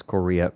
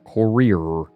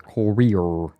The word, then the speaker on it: Korea: Same energy as when they pronounce Korea. Courier. It was the Vice documentary where they had videos, propaganda videos made by North Korea, and the English was mostly good, the pronunciation was mostly fine, but then they always called it courier.